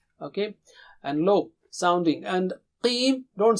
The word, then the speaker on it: قِيْم: And qim, don't say khim. And don't say kim. It is qim. Repeat after me 3 times. Qim, qim, qim, qim.